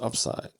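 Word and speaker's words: UPSYD: d right upside so it's a unique acronym but it still is pronounced upside okay so the U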